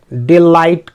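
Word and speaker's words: delight: तो यहाँ पे भी आपने ध्यान दिया होगा कि मैंने GH का उच्चारण नहीं किया, डिलाइट करा ना, क्योंकि मैं बता चुका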